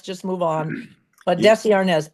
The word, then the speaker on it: Arnaz: Desi Arnaz, and that was really because my mother pronounced it that way. There were people who pronounced it Desi.